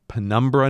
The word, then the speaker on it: Pembina: I know that there is no R sound in that town name.